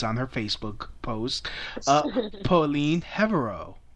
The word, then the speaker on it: Herveaux: her Facebook post, Pauline Herveaux. Did I pronounce that right? Herveaux. You just made me like Asian. You just sounded like an Asian that butchered my last name. Sorry. Herveaux.